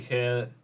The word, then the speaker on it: Khair: But we also use the word Khair because we're hairdressers in a salon and Khair rhymes with hair.